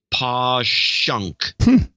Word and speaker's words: Passyunk: the wall and then Passyunk is pong person PA SS y u NK is posh UNK and by the way